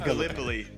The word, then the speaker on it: Gallipoli: the game right because being from Iowa, I said Gallipoli, and it's pronounced Gallipoli.